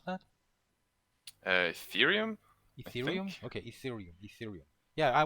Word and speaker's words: Ethereum: How do you pronounce that? Ethereum.